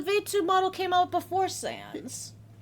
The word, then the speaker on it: Sans: He was based off Sam's Sans.